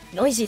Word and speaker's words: Neuse: 実はこのネウスをノイジーとするのはドイツ語の読み方。